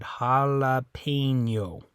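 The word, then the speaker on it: jalapeño: the difference here but it does sound a little different in English than it does in Spanish when you pronounce it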